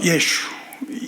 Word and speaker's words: 예수: 근데 그 중에서도 많은 문헌들 이렇게 해서 연구한 발음이 그 중에 하나가 예수, 마지막에 우를 숨을 이렇게 내쉬면서 예수.